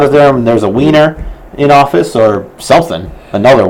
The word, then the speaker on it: Wiener: Well, Wiener, because in German that would be Wiener. Okay, it would be pronounced with a V.